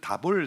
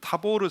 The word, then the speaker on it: 타보르: 사람은 나사렛 근처에 있는 다볼 산이다 이게 원래 원 발음에 좀 가깝게 발음을 하면 타볼 타보르 산입니다 타보르산 우리가 여름에